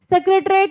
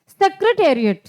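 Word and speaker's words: Secretariat: अब आप इसको सेक्रेटरेट बोलते हो, हाँ इसको सेक्रेटरेट भी बोल सकते हो, लेकिन सही जो प्रोनाउंसिएशन वो है सेक्रेटेरिएट, सेक्रेटेरिएट, सचिवालय या मंत्रालय।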